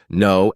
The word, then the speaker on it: know: Another tricky one is the silent K in words like knock, know, and knife. You can't hear the K, but it's still there in the spelling.